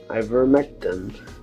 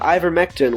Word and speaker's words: ivermectin: As a Hail Mary pass, I have procured him some ivermectin for him and will be driving it to him today.